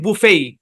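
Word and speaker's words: buffet: তো এই যে উচ্চারণটা এটা হচ্ছে ব্রিটিশ ইংলিশের উচ্চারণ বুফেই ব্রিটিশরা এটাকে বুফেই উচ্চারণ করে আর আমেরিকানরা এটাকে উচ্চারণ করে বাফেই সেম বানান বাফেই হ্যাঁ বাফে বুফে দুটাই সঠিক বুঝতে পেরেছেন ওকে আশা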